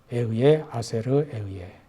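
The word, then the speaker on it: אהיה אשר אהיה: 나는 스스로 있는 자 아니라 히브리어 발음은 이렇게 됩니다. 에의에 아세르 에의에 나는 스스로 있는 자 아니라 여기에서 스스로 있는 자 에의에는 미완료 1인칭 단수입니다.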